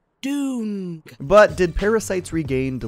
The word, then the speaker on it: Dune: and its first ever Dune parody it is pronounced Dune but did parasites regain to live up to